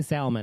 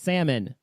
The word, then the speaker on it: salmon: a hick don't say Salman it's salmon salmon salmon salmon there is the L is not pronounced salmon Salman no it